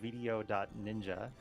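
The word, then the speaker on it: VDO.Ninja: Yeah, this website we're using a video.ninja. Video Ninja is the way it's meant to be pronounced, and it's basically like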